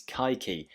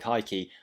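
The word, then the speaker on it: Kayky: brazilian divisions it is kaiki it might be pronounced cakey but i looked online and it looks like it's pronounced kaiki i'm going to try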